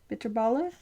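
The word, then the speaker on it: bitterballen: Um, we did have bitterball and bitterbala. A lot of times it's spelled with an N on the end, but you don't say the N.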